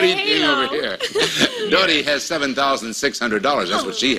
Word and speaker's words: Dottie: Dottie. Dottie as in daughter. Yes, Dottie. But anyway, we'll pronounce it as if it's D-O-T-T-I-E. Mm, close enough. Close enough? It rhymes with naughty.